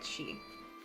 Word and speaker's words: Sith: It's Kit. It's Kit, she. And it's not Sith, it's she. Pronounced she or she.